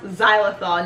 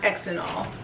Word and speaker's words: xylitol: I am horrible at pronouncing words, but it's actually pronounced xylitol, not xylitol.